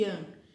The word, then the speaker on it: Yang: Os chineses não pronunciam G, então Yin e Yang, que é o princípio feminino e o masculino.